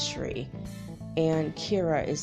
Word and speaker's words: Shri: S-R-I is Shri.